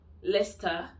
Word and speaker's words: Leicester: let's stop in uk the general rule for cities like leicester when this c-e-s-t-e-r is pronounced as star leicester worcester vista and we have gloucester